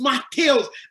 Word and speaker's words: Matheus: Your name is not Matthew, it's Matheus. The girl was looking at me, I was like, I was like, okay, Matheus.